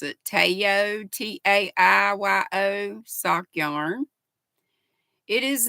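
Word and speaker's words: Taiyo: meters in this and it is called I pronounce it Tayo t-a-i-y-o sock yarn it is made of 50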